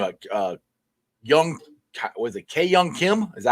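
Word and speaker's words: Kwang Hyun Kim: K Young Kim? Is that how you say his name? Kwon Young Kim.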